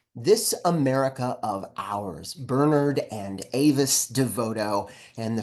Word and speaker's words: Bernard: He let me know that his dad pronounced his name not Bernard, but Bernard. So you will hear me say it like that.